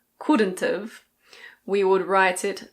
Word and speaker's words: couldn't've: Could not have becomes couldn't've. Couldn't've.